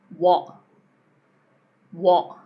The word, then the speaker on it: what: What what not what. So we're closing again. What? You're just closing before you get to the T.